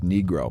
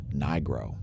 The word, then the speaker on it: Nigro: unable to pronounce it in italy it is pronounced negro but everybody in the u.s pronounces it with a long i sound nigro so let's just say